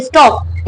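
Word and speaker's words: stalk: स्टॉक में एल हमारा silent है। इसको हम पढ़ते हैं स्टॉक।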